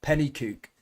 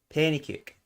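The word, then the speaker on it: Penicuik: got that pronunciation right she said in english it's like penny cook penny kick real madrid one nil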